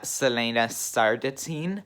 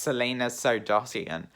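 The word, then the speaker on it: Celaena Sardothien: complete idiot because i was always calling selena selena sardatine when her name is pronounced selena sardotian so i'm an absolute buffoon i just did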